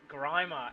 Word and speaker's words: Grimer: And to James Grimer out there, I'll start saying your name right. I know it's not Grimmer, but it is Grimer.